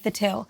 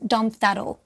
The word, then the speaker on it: Thattil: when we started right so I say the till my brother pronounces our surname differently so he says Dum thatle and the reason for